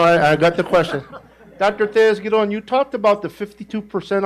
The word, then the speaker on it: Tellez-Giron: Tellez-Giron, that's the way you pronounce it.